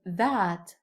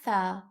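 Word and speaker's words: ثاء: Th This letter is pronounced like the soft th in English, like the th in the word three. Three, not like the th in the word this or the word that.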